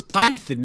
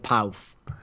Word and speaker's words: Pyth: Isn't it Python instead of Pouth? Well, look, it's spelt like Pyth, as in Python, which is what I always thought it was. How it's supposed to pronounce it? Yeah, but like Scandinavians, their language is all fucked up. They got all these crazy sounds that like British people have never encountered before.